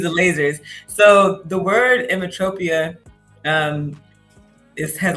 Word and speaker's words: Emmetropia: Emmetropia?